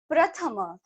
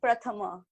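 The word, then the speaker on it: प्रथम: It was more like combined here, pra.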